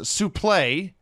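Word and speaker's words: suplex: I'm dead she informs Mr tazmaniac that is pronounced suple play and what was some some else here uh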